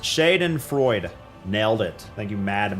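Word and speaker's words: Schadenfreude: Pronounced Shaden Freud.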